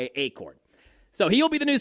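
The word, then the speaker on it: Achord: I have heard Accord. It's a C H O R D.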